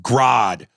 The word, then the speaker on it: Grodd: used caps uh ares his name is pronounced grodd gorilla grodd cedric yarborough